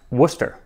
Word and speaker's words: Worcester: Worcester is pronounced Worcester, because no English place name ever sounds the way that it's written.